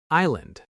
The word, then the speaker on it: island: Word number four, island. This word has a silent s. We don't hear it at all. I land, not ice.